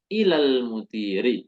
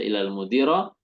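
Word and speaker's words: إِلَى الْمُدِيرِ: Al-mudiri, ilal mudiri. Kita nggak membaca ilal mudiro atau ilal mudiru. Ilal mudiri.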